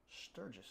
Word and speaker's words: Sturguess: especially from owner Sturguess. They spelled it without the U in there, but that's the. I'll answer to both. You'll answer to both. It's pronounced the same.